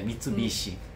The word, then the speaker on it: Mitsubishi: pessoas falam Mitsubish então português tem a tendência de falar mais alto a penúltima sílaba ah certo Entendi então